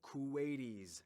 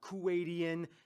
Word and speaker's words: Kuwaiti: you call these people kuwaitis not kuwaitian not kuwaitian not kuwaitanis Kuwaiti all right first of